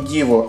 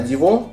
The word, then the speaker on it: Диво: Ну, вообще, я читал, что правильно произносить не Диво, а Диво, потому что Диво – это фамилия известного в среде поклонников Bugatti гонщика.